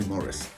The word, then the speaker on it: Maurice: all the time Maurice Maurice Maurice I say Morris or Maurice morrice well obviously there's only one correct pronunciation and that is Morris or Maurice take your pick honestly well it depends